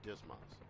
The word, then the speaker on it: DSMS: management system or dsms often pronounced dismas we'll conduct this lesson